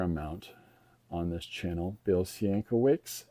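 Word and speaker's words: Sienkiewicz: Um, now some people would pronounce that Coovich, but his father anglicized it when they came to America. And there Senowicks, so it doesn't sound as Polish as it it is because maybe there was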